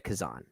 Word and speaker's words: Kazan: the history of one Elia Kazan, or Kazan, I guess is how you pronounce his name. I've heard it both ways.